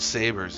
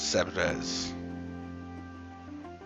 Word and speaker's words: Sabres: no man oh and it's not sabers it's sebrez what s-a-b-r-e-s so